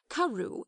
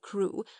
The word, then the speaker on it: Crewe: Madame Pascal pronounced it as if it were Karu instead of crew, but that might merely be a matter of pronunciation.